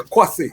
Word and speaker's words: Kwasi: Kwasi, the right pronunciation? Yeah, Kwasi, yes.